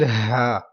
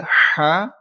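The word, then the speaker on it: ح: And next letter is ha. This is ha. This one is ha. Like this letter is pronounced with deep voice from bottom part of your throat.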